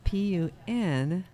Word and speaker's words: Punkin: no it's not pumpkin it's p-u-n-k-i-n vineyards punk in the proper pronunciation like pumpkinhead yeah go to their website